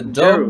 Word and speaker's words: Gero: Gero in the Jeru. dub, but I believe Oh, Jeru. in the original Japanese it's pronounced Gero.